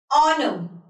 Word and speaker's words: honor: So see over here, when we are pronouncing these words, the letter H is not at all pronounced. It's when, where, honor, choreograph. Just do the honors.